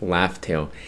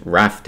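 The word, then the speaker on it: Laugh Tale: why that's why it's called laugh tail it's interesting because up until one piece stampede you know the recent movie that was just released up until that movie I always the name was always pronounced raft oh so interesting how they corrected it so Roger named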